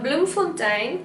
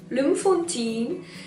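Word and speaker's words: Bloemfontein: is the administrative capital and bloom full-time or some people pronounce it blue 14 is the judicial capital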